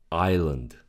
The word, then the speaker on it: island: The next one, island. Island. The S is silent.